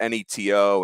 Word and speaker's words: Neto: I got to look up how to pronounce his name. It's either Zach Nato or Zach Neto. But it's Neto, and he's a two-way player.